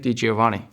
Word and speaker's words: DiGiovanni: pronounces things slightly different if you split my last name into two different ways it's D Giovani so that makes it